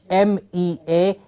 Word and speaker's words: measure: For example, most commonly mispronounced consonant sound that we have in Punjab, the j, M-E-A-S-U-R-E, measure. Yes, most of the time we've heard different pronunciations for it with a y sound in it or some other sound in it. Yes, measure.